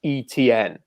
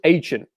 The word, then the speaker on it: Etienne: There is no pronunciation where that is ETN, right? It's either Etienne, like Saint Etienne in France, or it's Etienne, because that is how it's pronounced in Europe.